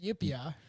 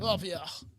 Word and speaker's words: upyr: How the fuck do you even pronounce that? Yupia. It's Russian. Yupia.